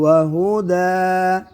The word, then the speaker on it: وهدى: لما بين يديه وهدى अच्छा ये वक़फ़ करना है दो ज़बर पर तो वहुदा अगर यहाँ साइलेंट है अलिफ पढ़ेंगे दो ज़बर की जगह एक ज़बर फिर अलिफ वहुदा वबुश्रा लिलमुमिनीन وهدى وبشرى